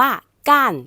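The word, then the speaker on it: 干: หนัก นั่น เอง ค่ะ กัน กัน แห้ง คำ นี้ เดิม อยู่ ใน hsk4 นะ คะ อักษร ตัว นี้ เป็น ตัว ยิ้น จื ค่ะ ก็ คือ ออก เสียง ได้ หลาย เสียง และ มี หลาย ความ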